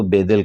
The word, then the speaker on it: بیدل: جی تو اصل میں ہم تو بیدل کہتے ہیں. جی جی تو وہ بیدل جو ہے وہ در حقیقت بیدل ہے.